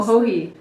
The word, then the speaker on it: Joji: Oh, Hohi.